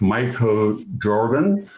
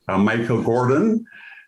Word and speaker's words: Michael Gordon: Joining me to discuss this troubling issue that confronts them every day are Chef Michael Jordan, and I keep pronouncing your name, Michael Gordon, and also Amadou Diallo.